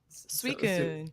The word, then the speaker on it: Suicune: Suicune.